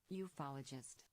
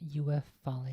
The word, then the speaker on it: ufologist: television ufologist you follow just pronunciation ufologist ufologist not UF falling this title is not